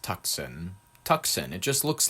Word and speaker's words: Tucson: By the way, Tucson should be pronounced Tucson. Tucson. It just looks like Tucson to me.